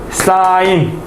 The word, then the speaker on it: 사인: 그래서 우리는 빗변과 높이, 빗변과 높이의 비율을 빗변 대 높이의 비율을 사인 SIN입니다. 읽을 때는 사인이라고 읽어요.